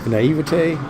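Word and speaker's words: naïveté: heavy things, There's a naivete, that's how you say it, French.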